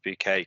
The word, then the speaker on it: Bucket: Yeah, early 90s British sitcom about a housewife called Hyacinth Bucket, but she pronounces it as a Hyacinth Bouquet because she's always about trying to put on the airs and graces.